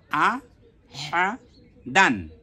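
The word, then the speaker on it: أحدًا: আলিফ দুই জবর দান দাল আলিফ দুই জবর দান তাহলে কি হলো আহা দান আহাদান এরপরে আমরা একসাথে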